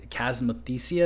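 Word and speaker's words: chasmothecia: So, does tilling the soil have any positive effects in terms of potentially killing the chasmathesia?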